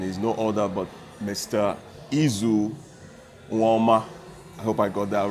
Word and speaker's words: Eizu Uwaoma: in background and is no order but Mr ezoo warmer I hope I got that right that's great